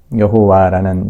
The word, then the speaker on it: 야훼: 여호와라는 이 말은 사실은 자음 모음 체계가 완전히 자리 잡힌 이후에 그 발음이 여호와라고 이렇게 바뀌어진 것이고, 원래는 이제 야훼라고들 흔히들 이야기를 합니다.